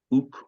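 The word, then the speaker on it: οὐκ: So whatever you, O men of Athens, experienced because of or by my accusers, uk oida. All right, here's your first sentence. You can pronounce that right. Uk, u, and that's kappa.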